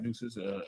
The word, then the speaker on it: Nueces: Nueces, N-E-W-I-S. N-E-U. Like deuces.